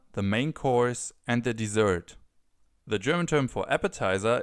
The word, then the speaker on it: Dessert: But we also have the term dessert. We just pronounce it das Dessert. Das Dessert. So a little more like the original pronunciation in French, where this word is actually from.